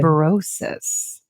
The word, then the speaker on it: liberosis: Okay, so I found this word, and the word rhymes with cirrhosis, but it sounds it doesn't like sound good. liberosis.